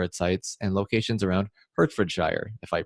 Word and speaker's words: Hertfordshire: And you did pronounce that wrong, Brandon. That's Hertfordshire.